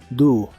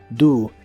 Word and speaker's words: do: en inglés es do la o se pronuncia como una u do do esta versión de hacer